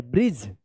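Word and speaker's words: bridge: डी और जी कहीं पे भी वर्ड्स में लिखा रहता है तो इसका डी और जी का उच्चारण क्या होगा? ज उच्चारण होता है।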